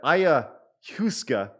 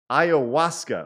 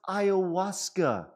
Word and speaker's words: ayahuasca: if you're going to peru and you're having aya huska and you go on a spirit journey you're okay ayahuasca okay thank you dandy64.